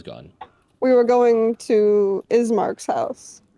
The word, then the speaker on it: Ismark: we were going to ismark's house his name is mark right ismark i'm thinking of bismarck but without the b that's all of them thinking it's it's it's pronounced beast ismark eastmark listen i'm sorry